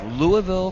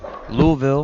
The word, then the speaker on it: Louisville: for Brett Shepard from Louisville Kentucky Louisville however you want to say it most people say Louisville is wrong well Louisville I'm not even sure if there's two syllables in it and he makes the